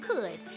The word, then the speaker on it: could: The middle sound, is spelled with the letters O-U-L.